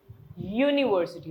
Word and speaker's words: यूनिवर्सिटी: है तो vowel sound लेकिन यूनिवर्सिटी अगर आप बोलते हो तो अ से नहीं शुरू होता है। वो फिर से यू से शुरू हो रहा है। बोल के देखो आप एक बार। यूनिवर्सिटी तो य की साउंड आ रही है अ की नहीं।